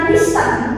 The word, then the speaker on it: listen: Meskipun tulisannya listen, tapi bacanya listen, huruf T-nya sama.